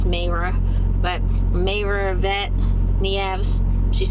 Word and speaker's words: Mayra: I said her name wrong before. I think I called her Maria. I thought it was Maria, and I think it's Mayra.